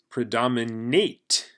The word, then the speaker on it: predominate: Predominate. Eight. This is just like eight, like I ate something.